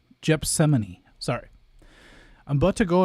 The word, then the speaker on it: Gethsemane: I mispronounced the biblical pronunciation. Let me go back. Wait, who? Okay, Domino. It's Gethsemane.